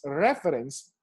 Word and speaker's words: reference: c e and becomes reference listen carefully reference so the stress is already on the first syllable reference that means you